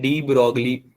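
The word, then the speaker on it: de Broglie: हम पढ़ने वाले हैं डी ब्रोगली या डी ब्रोए। इसका प्रोनाउंसिएशन डी ब्रोए होता है, पर डी ब्रोगली बोलना ज्यादा अच्छा लगता है लोगों को, है ना।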